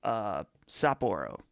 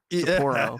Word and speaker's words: Sapporo: And I got a 6-pack of Sapporo, the Japanese beer.